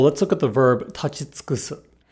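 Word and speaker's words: 立ち尽くす: For example, let's look at the verb tachitsukusu. If we say this verb slowly, the u is quite audible. Tachitsukusu. However, the faster we say this word, the more the u loses its voicing.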